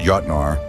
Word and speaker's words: Jötnar: this Saga all right first off it's pronounced Yar I see you struggling as often translated